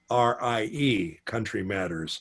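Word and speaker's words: Countrie Matters: It's Country Matters, but it's spelled Countrie, Country Matters, like old English, But that's a really good one too.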